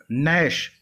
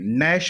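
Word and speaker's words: gnash: नैश, यहाँ पर जी silent है, यहाँ पर भी नैश पढ़ेंगे इसको।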